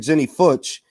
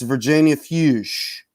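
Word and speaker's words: Virginia Fuchs: wrong all this time i've been saying jenny futch it's virginia fuse let me see and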